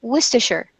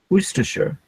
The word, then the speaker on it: Worcestershire: they pronounce the name of a county they pronounce sure sure because it's unstressed so we pronounce it Worcestershire Worcestershire mm-hmm Worcestershire so we don't even